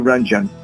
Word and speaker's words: Ranjan: can pronounce it rather than spell it not pronounce it thank you thank you ranjan thank you so much Steve love you and